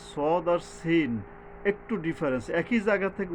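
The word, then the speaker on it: س: তবে কি এইটা শক্তভাবে ফাং ফাং সব কিছুটাযেশ শব্দ আসতেছে এবং অক্ষরটা যে সদ আর সিন একটু ডিফারেন্স একই জায়গা থেকে উচ্চারিত হয় কিন্তু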